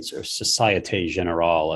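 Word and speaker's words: Société Générale: there was a bank sock gen in society general as i'm told it's pronounced in france that you know tokenize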